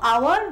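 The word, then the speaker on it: hour: যেরকম ফার্স্ট দুটো এক্সাম্পল দেখো, আওয়ার বা অনেস্ট, ঠিক আছে। এখানের মধ্যে এইচটা সাইলেন্ট, তার জন্য আমরা বলবো আওয়ার। অনেস্ট, তার জন্য তার আগে আমরা এন বসিয়েছি।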